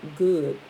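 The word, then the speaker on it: Gud: Further research revealed that these Teutonic druids, called the sun god or good, is spelled G-U-D, so I'm going to pronounce it like I said.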